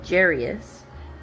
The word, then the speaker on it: Jairus: Then one of the synagogue rulers uh named Jairus came there. That's how I pronounce it.